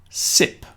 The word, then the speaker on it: sip: Starting at the top, sip.